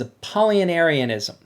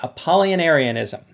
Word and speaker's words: Apollinarianism: heresies that we're going to talk about is a paulinarianism yes i pronounced that correctly and i've practiced it over and over again apollinarianism and it comes from a polyaris who was